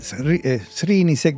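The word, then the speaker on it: Srnicek: Sería en general Srinicek, pero es S-N-I-R-E-C-K.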